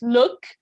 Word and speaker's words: look: misreading you said uh you said it right the second time it's look okay uh if you say lock or or like a closer oh it sounds like a lock for example something that